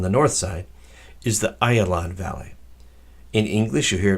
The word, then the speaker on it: Ayalon: the valleys on the north side is the Ayalon Valley in English you hear pronounce the aijalon or a Jalan Valley but the correct Hebrew pronunciation is the aisle on Valley it is the biggest and the widest